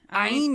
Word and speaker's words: Ayn: I just think of like German saying nine, but take out the n sound. Ayn. Oh, Ayn Rand. Okay. Yeah, that's a good way. Instead of thinking about it, because rhyming with mine is the one that I heard, and it's just